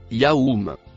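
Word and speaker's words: يوم: Le mot, en bleu foncé, se prononce Yaoum.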